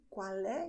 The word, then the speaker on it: qual é: Okay, qual é is pronounced this way.